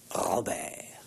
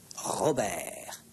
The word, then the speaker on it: Robert: Et c'est un prénom qui n'est pas facile à prononcer. Robert. Tenez, prononcez. Robert. Dites Robert.